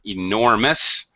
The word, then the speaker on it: enormous: in just a second the word enormous stressed on the second syllable nor okay just quick